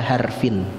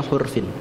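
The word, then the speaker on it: حرف: Dan di antara manusia ada orang-orang yang menyembah Allah ala harfin, di atas tepian. Nah, ada yang membacanya harfin, ada yang membacanya hurfin.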